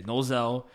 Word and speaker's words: Nozel: but back then a young Yami, a young Nozel. That's how you say it. Yeah, Nozel.